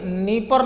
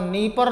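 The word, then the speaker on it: Dnieper: उसके बाद आइएगा तो ये नीपर नाम की नदी है, चूँकि डी साइलेंट है यहाँ पर, नीपर नाम की नदी है।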